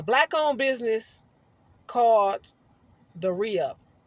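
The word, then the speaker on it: ReUph: um it's a black owned business cards The Re-Up it's it's spelled r-e-h no it's spelled r e u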